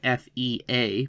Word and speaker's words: Fea: that's John and then his last name is spelled F-E-A, pronounced Fea, is hard at work at a Christian university teaching and writing history and writing about history writing.